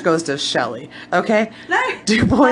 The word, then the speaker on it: Dubois: Anyway, so we're going to talk about good old Dubois. Michael Jackson. And it is called, it's Dubois, by the way, you guys. It's not.